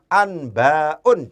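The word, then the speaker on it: أنباء: Kita harus berani membacanya dengan tanwin. Anba'un, jangan ragu-ragu.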